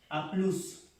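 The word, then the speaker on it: à plus: A plus se pronuncia la S, A plus.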